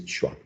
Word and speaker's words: schwa: this famous vowel sound which is uh called chua can you believe that it has a name and the name is schwa um is the first uh vowel sound in